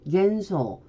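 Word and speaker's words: 幻想: 그리고 한국어로 환으로 읽을 때 일본어로는 겐으로 읽습니다. 예시 단어 보겠습니다. 환상, 환각 해서 우리가 흔히 쓰이는 단어인데 일본어 발음은 환상은 겐소, 환각은 겐가쿠 이렇게 발음이 됩니다.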